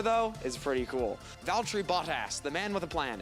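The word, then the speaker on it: Bottas: guy's pretty cool and yes his name is pronounced bot ass it's really just the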